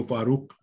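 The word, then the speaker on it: Farooq: फारूक की स्पेलिंग है एफ ए आर ओ ओ क्यू, क्योंकि वो फारूक है इसमें, इसके एंड में क, क इज अ Arabic Persian word, क नॉट क, अल comes फ्रॉम the epiglottis sort of.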